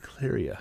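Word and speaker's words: Cleyra: favorite were the black Mages who appear in claria I believe that's how you say it claria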